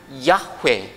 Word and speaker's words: 야훼: 여러분, 저 하야 동사가 3인칭 단수가 되면 야훼 이렇게 발음이 됩니다.